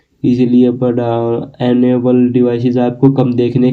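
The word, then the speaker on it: Bada: Then हम बात करें बाडा की। जी हाँ, बाडा एक सैमसंग इलेक्ट्रिसिस है। ये बाडा नहीं है, बड़ा, नो डेट बाडा, एक तरह से बड़ा आप मान लीजिए, इसका प्रोनाउंसिएशन है।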